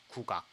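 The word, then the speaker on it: 국악: In Korean, this is pronounced Kukoc.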